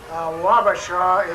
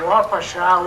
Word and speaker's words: Wapasha: the name of wapasha wabasha is a mispronunciation of the word wapasha which means red cap